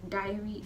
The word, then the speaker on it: diary: that you're writing and dairy is a milk product so don't confuse the two because you see if you end up if you produce if you confuse the pronunciation then many times you end up confusing the spelling like a certain person that i just mentioned so diary dairy diary dairy you're writing it you drink it you right into it it's